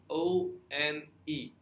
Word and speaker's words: one: is important for example one is pronounced o n e however it's pronounced as one like it starts with a w now to make it